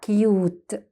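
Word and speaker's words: cute: تعالوا كده، كيوت. كيوت. شفتوا نطقناه باسمه مش بصوته، كيوت، والاي كأنها مش موجودة.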